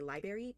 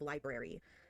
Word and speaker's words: library: I've met like so many people who say library instead of library. It's like it's spelled with the R in front of the A. Why would it not be pronounced?